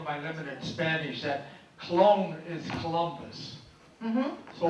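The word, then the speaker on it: Colón: for Christopher Columbus and it is Cologne and please please please please please please please put the accent on the second go otherwise you have a colon so you said when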